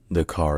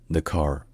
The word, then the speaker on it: Dakar: hello Dr hansang here the car is the capital and largest city of Syle known for its vibrant culture historical sites and economic importance in English it's pronounced the car and in French it's the car n Nar